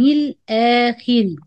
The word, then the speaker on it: الآخر: وباليوم الآخر باليوم الآ this همزة between the lamb قمرية and ألف مد.